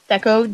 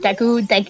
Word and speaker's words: Deku: isn't working we like to beat gekko tree deco deku deku deku tree i don't know i i